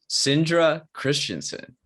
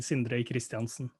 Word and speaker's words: Sindre Kristiansen: well you did um at least the english version of it yeah what's the norwegian version of it the norwegian word version would be sindre christensen so with the rolling